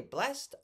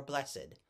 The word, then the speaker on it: blessed: Naked, the one of two words in the English language that I know where we pronounce the ED, naked and blessed. We say blessed or blessed.